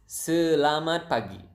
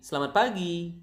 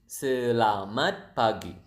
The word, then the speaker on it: selamat pagi: It is selamat pagi. Selamat pagi. Selamat pagi. So the natural speed would be selamat pagi. The slow speed would be selamat pagi.